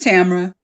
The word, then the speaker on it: Tamera: Is it Tamera or Tamera? Just Tamera.